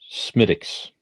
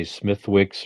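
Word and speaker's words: Smithwick's: talking something that's more wide widely distributed um smitics cosmetics schmidt a lot of people mispronounce it they say smithwicks or something like that yeah well you with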